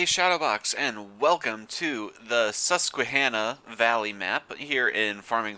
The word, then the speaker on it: Susquehanna: and he says that it is pronounced susquehanna so i'm going to try my best to pronounce it that way but if i say susquehanna i mean susquehanna and supposedly you're supposed to really accent that qui sound susquehanna anyway a few changes since